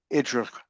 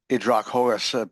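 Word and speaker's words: Ὑδροχόος: Idrachos, I would pronounce it from my understanding of classical Greek, or Idrachos, possibly accent on the O because of the accent mark there.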